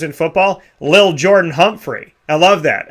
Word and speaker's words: Lil: It's not little. It's Lil.